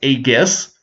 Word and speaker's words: Aegis: now I have four ages on my board I think it's actually pronounced a guess with a hard G instead of a soft G uh here I'm going